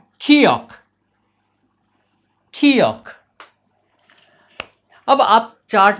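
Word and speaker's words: 기역: इन व्यंजनों के नाम भी है, जैसे हमारे व्यंजनों के नाम है क ख ग घ, वैसे इनके व्यंजनों के नाम है खियोक, थियोत, फियोक, नियोन, मियम, इस प्रकार के हैं।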